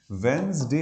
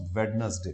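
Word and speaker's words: Wednesday: वेंसडे इसका sound जाता है, दैट्स नॉट वेडनेसडे।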